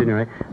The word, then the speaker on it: Signoret: exciting leading ladies for your pictures, like Simone Signoret. Is that the way you pronounce it? Mm-hmm. Signoret.